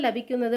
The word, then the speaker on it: ലഭിക്കുന്നത്: எழுதும்போது லபிக்குന്നത് அப்படின்னு எழுதுவோம், ஆனால் ப்ரொனன்சியேஷன் அங்கே லெபி அப்படின்னு தான் ப்ரொனவுன்ஸ் பண்ணுவாங்க. ഈ மரத்திൻ്റെ, ഈ மரத்தோட ஒரு தடிக்கு, தடினா கட்டை, மரக்கட்டை அப்படின்றதுக்கு பொருள்படும்.